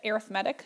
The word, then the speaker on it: arithmetic: So first, something to note is this word right here looks like the word arithmetic. We pronounce it arithmetic sequences.